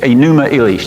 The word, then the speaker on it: Enuma Elish: I'm writing that up now because it's the a numeral each that's how you helps how you say it pronounce it and that just means when on